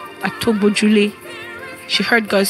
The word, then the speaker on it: Atogbojule: Because we are in Yoruba. Yeah. So we're saying Atogbojule. That's how we could, pronounce it.